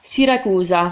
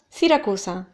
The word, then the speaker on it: Siracusa: yeah cos I'm Roman because Elise is Roman Roman so sometimes put us sounds instead of Z sound it kind of leans more towards us instead of a Zed so for example the way I'm saying it is kind of more like standard Italian yeah the ass so